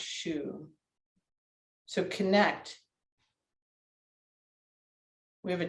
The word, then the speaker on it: xu: and the sound is shoe okay it's spelled xu but pronounced shu so connect we have